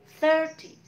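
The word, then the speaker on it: thirty: Nah, tapi ketika puluhan, yang ditekan adalah the first syllable, suku kata yang pertama. 30, 40, 50. Jadi, third-nya, four-nya yang ditekan, bukan T-nya.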